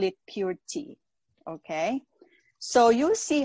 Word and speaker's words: Puer tea: they pronounce this purity poor tea it sounds like a not too good tea right not too good but our purity we call it pure tea okay so you see